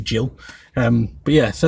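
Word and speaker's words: Gil: Bo Shannon and Carlos he'll I think he's right it's pronounced heel he's actually Jill um but yeah so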